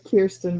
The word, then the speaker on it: Kierstan: So I'm gonna bring up Kristen, and did I pronounce that correct? Is it Kristen or Mm, Christine? no, it's Kierstan, but that's okay.